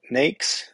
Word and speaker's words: NAICS: number of ways but I called it an xcode it's like a snake but you take the S off the beginning and you put it at the end makes um